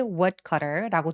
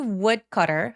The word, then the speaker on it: woodcutter: 천천히 발음한다면 a kind woodcutter라고 D 소리를 아주 가볍게 내주시면 되겠죠. a kind woodcutter 할 때 woodcutter 아니고 woodcutter 해서 W는 입술을 내밀어서 시동을 걸어주는 느낌으로 발음을 해주셔야 돼요.